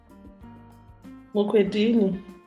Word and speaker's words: Mukwedini: Mukwedini. Listen, I don't mean to be very ignorant, but I've known you for quite some time now. And how do you pronounce your surname? Mukwedini.